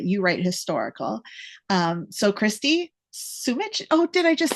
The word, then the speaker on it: Sumich: So Christi, Sumich.